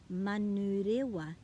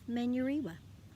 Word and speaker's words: Manurewa: By that I mean saying manurewa instead of manurewa, by saying tōtara instead of tautra.